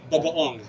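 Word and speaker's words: bagoong: Bagaong.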